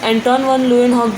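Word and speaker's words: Antonie van Leeuwenhoek: Means एंटोन वॉन लुइनहॉक जो scientist हैं, आप एक बार प्रोनाउंसिएशन ध्यान से सुन लीजिए.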